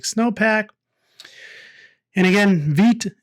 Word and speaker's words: Vite: And again, vite is the French word for fast or quickly and is pronounced vite. I know I was pronouncing it vite at first.